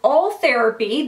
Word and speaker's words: Ultherapy: Ultherapy, that's how you pronounce it.